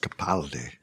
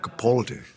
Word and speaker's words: Capaldi: name is mispronounced so my name is pronounced Capaldi not Capaldi it's a very common mistake it's a London's mistake